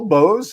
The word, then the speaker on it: Boze: That's right, B-O-Z-E. And I'm glad because you know why? As a tutor who used to work with elementary kids in reading, that silent E rule or bossy E rule actually still does take into effect today.